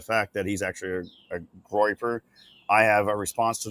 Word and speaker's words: Groyper: I want to call them the Groper movement. Really, it's Groyper.